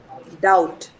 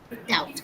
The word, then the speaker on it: doubt: Doubt. Doubt. Again. T is muscle. B is silent before T.